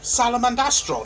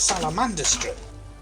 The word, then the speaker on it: Salamandastrom: my scouts fall behind that's how it's pronounced salamandastrom i've been pronouncing it salamander street uh do you need